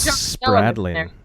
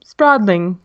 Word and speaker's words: Spradlin: ya never know Kim's Spradling Kim Spradlin Rose Tony likes to say Kim Spradling Spradling everybody's name wrong it